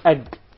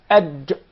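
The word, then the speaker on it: ج: Not ag. Yes. There is no gim in Arabic. It is aj. Aj. Ad. It seems like it comes from the middle of the mouth. Aj.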